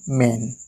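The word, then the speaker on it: main: आप लोगों के लिए एम ए आई एन मेन ठीक इसको पढ़ेंगे मेन मेन मतलब मतलब दोस्तों मुख्य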